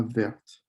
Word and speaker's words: verte: as you can see when there's the e in the feminine form you're going to pronounce the t then so la verte like with red it